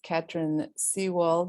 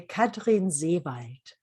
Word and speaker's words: Katrin Seewaldt: me is Katrin Seewaldt, and that's the English way of pronouncing it. The German way, I will leave to her beautiful German accent. Katrin, how do you say it? So in German, you would say Katrin Seewaldt, and it Seewald, means lake forest.